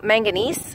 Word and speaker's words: manganese: anyway it was active mining manganese I think is how you say it not magnesium manganese anyway I'll put some